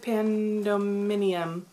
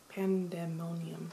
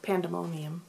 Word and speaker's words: Pandemonium: have read delirium and i think i read pandominium pandemonium pandemonium i could say it right i think i